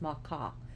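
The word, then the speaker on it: Macha: one of the makas it's spelled matcha but it's pronounced macaw made her race and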